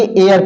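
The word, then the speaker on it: heir: इसको हेयर नहीं बल्कि एयर पढ़ते हैं।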